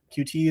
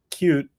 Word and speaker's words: Qt: about um cute or QT as some people say. I say both just to annoy everyone. I so I tend to say cute now to someone who doesn't know that's how it's pronounced and then I'll say